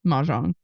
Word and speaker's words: Mahjong: Is that how you say it? Yeah, Mahjong. Okay, I think you can say it a little bit more like just Mahjong. I think you can like be a little bit cooler about it, Caroline.